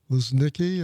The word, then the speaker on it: Luznicki: We have a guest today, Kim Luznicki. Am I pronouncing that correctly? Yes, thank you.